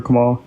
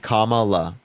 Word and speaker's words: Kamala: Can you give me 2 reasons why you're voting for Kamala?